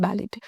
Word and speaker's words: ballet: dancer okay it's not ballet the T here is silent synonyms are agile Nimble